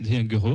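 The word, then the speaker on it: Dejaegere: Non, ça se prononce Déguereux.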